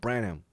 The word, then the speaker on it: Branham: It says Bran Ham, but I'm pretty sure it's pronounced Branham.